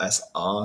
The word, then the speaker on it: SA: Hitler created the SA stormtroopers, otherwise known as the brown shirts or SR as you pronounce it in German.